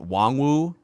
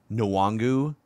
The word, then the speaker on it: Nwangwu: nuangu prediction too and i hear the broadcasters are pronouncing it wong wu like there it's a soft n i've also heard it nuwangu from people that cover